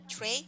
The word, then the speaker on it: tray: Tray. Tray, tray. No, you have to open your mouth a little bit wide, a little bit wider.